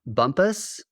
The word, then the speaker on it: Bumpass: Virginia are you uh Bumpus yeah spelled Bumpass yeah Bumpass what like sister city